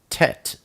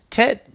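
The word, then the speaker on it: טית: Next we have the oat Tet, and that is the number 9. Tet is pronounced T, like today.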